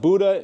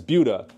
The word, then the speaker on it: Buda: And it's not pronounced Buda, it's Buda.